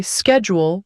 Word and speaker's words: schedule: For example, Americans say schedule with a sk sound sound while British people say it with a sh sound.